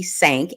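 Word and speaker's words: Sank: Okay, so I have been pronouncing Jordy's name wrong. I don't know why I wanted to have his name be wrong, but it's Jordy Stank, S-A-N-K.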